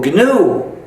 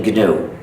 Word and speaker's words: GNU: And the reason is, according to the dictionary, the official pronunciation is new.